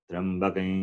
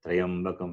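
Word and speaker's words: त्र्यम्बकम्: Trambakam yashamake sukhantim pushtivardhanam. People, they chant it wrongly. They chant it as Trayambakam. It is not Trayambakam. It is Trambakam. Trambakam. It is a conjunct consonant.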